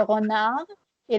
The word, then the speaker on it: renarde: Ça, c'est le renard et la renarde. Donc, essayez de dire encore le renard. Le renard. Et la renarde.